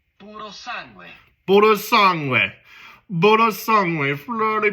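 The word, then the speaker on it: Purosangue: I'm not Italian, I'm American, so I'm not going to say it correctly, but it is Puro sangue.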